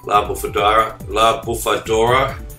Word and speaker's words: La Bufadora: But as you can see now, I'm coming into La Bufadora.